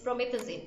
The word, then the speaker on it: promethazine: from methazine prometheus it's the pronunciation is promethazine or phan enduring and promethazine so again he says